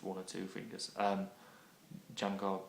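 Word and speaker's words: Django: or two fingers um Jango Reinhard being one of them which is spelled um d j a n g o Jango Reinhard look him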